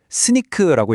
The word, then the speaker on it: Snyk: 그리고 스닉 스니크라고 읽는데요.